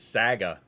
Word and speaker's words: Saga: Well, their name is Saga. S-A-G-A. So it's not how I pronounced it, it's how they spelled it.